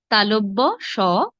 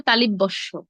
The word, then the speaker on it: তালব্য: মূর্ধন্য স দন্ত স আমরা আসলে অনেকেই দেখুন উচ্চারণ করে তালিব্যস মদিনাস্য এগুলো ভুল সঠিক কি হবে তালব্য তালব্য তালব্য স তারপর মূর্ধন্য স তারপর দন্ত স দন্ত স তালব্য স মূর্ধন্য স দন্ত স এভাবে হবে হ্যাঁ এখন তিনটি স